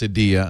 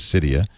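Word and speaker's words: Cydia: yeah and Sadia and by the way it's pronounced Sadia I found out which I didn't never knew I thought it was cyia cidia is now uh on the iPhone 4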